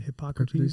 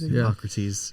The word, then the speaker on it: Hippocrates: Hippocrates? Hippocrates. Hippocrates, I didn't want to mispronounce his name, but Hippocrates, he actually, speculated